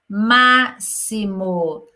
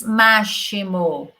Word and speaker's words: máximo: música está no volume máximo nós não falamos máximo nós falamos máximo volume máximo a música